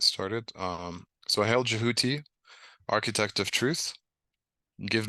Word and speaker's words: Djehuty: um but the but the original um pronunciation is jouti so I try to stick to the original ancient Egyptian one um the album is